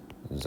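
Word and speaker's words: ξ: So this is xi, okay, which is pronounced xi, all right?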